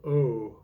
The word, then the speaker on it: OU: with inside out music the band's called oh but it's spelled ou and their album is